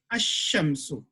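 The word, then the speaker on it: الشمس: In some letters, we do, if it is preceded by alif lam, we don't read the lam, we will join it to shamsu, ash-shamsu.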